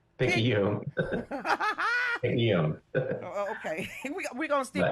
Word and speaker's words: Picayune: Oh, you thought I was going to tear up that Pickaninny, Mississippi. Did I say that right? See, I didn't even know how to say it. Picayune. Picayune.